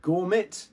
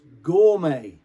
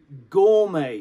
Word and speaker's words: gourmet: this one is pronounced not i don't know gourmet no it's not it's pronounced gourmet gourmet because the french don't pronounce the tea at